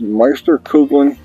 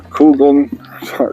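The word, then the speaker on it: Meisterkugeln: We're shooting RWS Meister Kouglin or Kouglan. So hard to say that. I believe that's the correct pronunciation.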